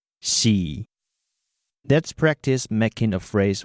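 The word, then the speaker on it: 四: Next, the number 4 is pronounced xi.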